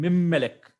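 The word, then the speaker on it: מִמֶּלֶךְ: So the pronunciation will become Mimmelek.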